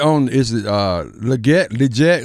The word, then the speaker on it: Legette: told us he said you gotta hold the E Lee yeah give update on